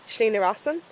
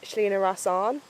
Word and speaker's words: Slí na Rosann: I've been doing it way too regularly myself recently This is the Slí na Rosann, but I keep pronouncing it Slí na Rosánn which isn't right And the Slí na